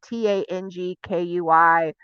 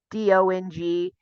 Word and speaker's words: Dong Quai: It's spelled a gajillion ways because it's phonetic. So say like TANGKUI, DONGQUI.